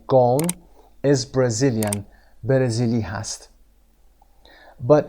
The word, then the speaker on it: Ghosn: به این صورت نوشته شده اما به این صورت خونده میشه، اسمش تلفظ نشده. گون is Brazilian، برزیلی هست.